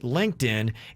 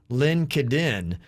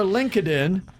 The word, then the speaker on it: LinkedIn: after 10 years that linkedin is not pronounced lin kiddin i spent all day wondering how many meetings i've actually said that in lincoln lincoln so if you go check our linkedin sounds like a friend